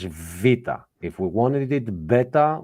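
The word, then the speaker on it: βήτα: And we had those up here, and we know now, summing up the class, we know that this is alpha, this is not beta, this is vita.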